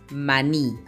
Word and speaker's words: maní: La palabra maní lleva la mayor fuerza de voz. ¿En qué sílaba? Sí, en la sílaba ni.